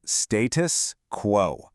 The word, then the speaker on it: status quo: Let's pronounce it status quo.